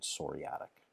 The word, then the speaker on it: psoriatic: of uh what's called psoriatic Nails the p is silent and psoriatic okay um pemphigus this